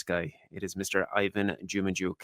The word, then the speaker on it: Dzhumadzhuk: all around nice guy it is Mr Ivan jumuk how are you doing my friend I'm very